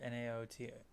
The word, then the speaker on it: Naoto: I always forget how to pronounce their names. That is N-A-O. No. T-O. I believe it's either that or Naotou.